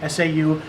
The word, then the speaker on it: sau: the slapping hand energy p a k SA or Sao depending upon how you wind up pronouncing in your or spelling in your school in the form you